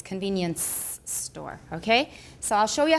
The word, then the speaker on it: convenience store: example convenience store and remember it's not convenience store it's convenience store okay so I'll show